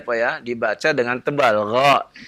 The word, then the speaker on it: غ: Gha. Jangan dibaca ga ya. Ya, gha bukan ga ya, itu tebal ya.